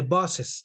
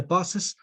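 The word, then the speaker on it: boss's: the position the bosses notice how i pronounce the buses i don't say the bus office no i say the buses office okay now take a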